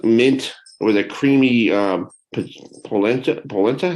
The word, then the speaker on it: polenta: Polenta?